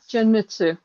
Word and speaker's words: Genmitsu: It is a Jinmitsu, Yeah, Genmitsu.